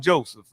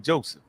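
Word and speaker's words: José: I'm start with Joseph. I mean, Joseph, am I saying it right? Jose, man. Jose. Yo, put a H there for me.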